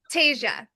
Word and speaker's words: Tasia: How do you say her name? I just want to So it's Tasia.